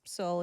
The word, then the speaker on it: Seoul: Uh the video titled a real monster emerges at the Han River in Seoul. Is it Soul? Is it just pronounced Soul? It's Soul.